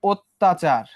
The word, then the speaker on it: অত্যাচার: সেটা হইতেছে যদি এই যে অত্যাচার, অত্যাচার, এই যে এখানে কি ছিল অ, অর পরে আবার কি যুক্ত হয়েছে জ ফলা, তাহলে অর উচ্চারণটা কি হয়ে যাবে ও হয়ে যাবে। এটাই আমি বুঝাইতেছি। এরপরে বাকি অংশটুকু লিখি আমরা। বললাম যে জ ফলা যার সঙ্গে যুক্ত থাকবে তার উচ্চারণটা কেমন হয়ে যাবে ডাবল, দ্বিত্ব, দুইবার উচ্চারিত হবে।